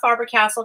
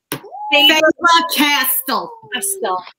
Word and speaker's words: Faber-Castell: Thank you so much to Not Faber-Castell, because that's not how you say it. Jewel, how do you say it again? Faber-Castell.